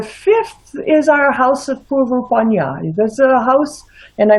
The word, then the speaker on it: Purva Punya: The 5th is our house of Purvapanya. There's a house, and I may have mispronounced that. It's the house of previous good, or of good fortune. The Purva Punya. Yes, so much true. I did pronounce it right.